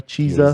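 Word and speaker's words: Chiesa: yeah neil magni uh chessa chisa chesa cheeza yeah i think is the correct pronunciation of his name i don't they don't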